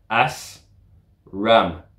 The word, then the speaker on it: ASRAAM: Parce que la prononciation de ce missile, c'est AS RAM.